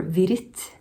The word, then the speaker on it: Wirth: book uh of oswal worth um or vit which is probably his Swiss German pronunciation of his name but let's just go